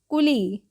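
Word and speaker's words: coolie: C double O एल आई क्या पढ़ेंगे इसको कुली ओके क्लियर है यहां तक ओके रूल नंबर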